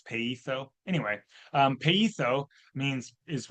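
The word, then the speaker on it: πείθω: Peetho because you pronounce the I in the middle of a Greek word in coin a Greek like the the I in intrigue. So it's pito anyway.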